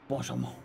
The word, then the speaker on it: Blanchimont: second and the third, we've got It's pronounced Oh, boy. Blanchimont.